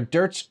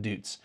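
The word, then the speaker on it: Deutz: and Tamaki Winery they're dirt's champagne house but that's how you pronounce it dirts not dutes their dirts champagne house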